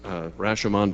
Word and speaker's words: Rashomon: the film was called Rashomon pronounced Rashomon by most americans but essentially about versioning